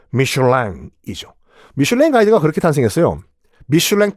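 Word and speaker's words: Michelin: 그 형제가 바로 미쉐린 형제들이에요. 미쉐린은 미국식 발음이고 프랑스식 발음은 미슐랭이죠.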